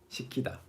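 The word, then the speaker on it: 식히다: This means to cool down something. 시키다. The same pronunciation. You cannot tell the difference just by hearing these two words. 시키다, 시키다, 시키다, 시키다. Exactly the same.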